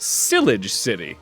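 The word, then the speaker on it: Shalour City: It's pronounced Silage City.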